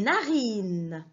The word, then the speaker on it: narines: na ri 9 des narines des narines regardez bien les narines et regardez bien la lettre s quitte à la fin on l'a prononcent pas c'est la lettre e s du pluriel c'est la être est